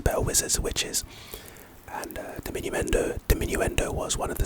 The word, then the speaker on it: diminuendo: white boy Nigel anyway but pronunciation de Min n do it's a charm and